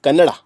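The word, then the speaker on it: Canara: Bangalore based कैनरा bank कैनरा the word कैनरा is pronounced is Hindi as कनाडा ए कनाडा इज द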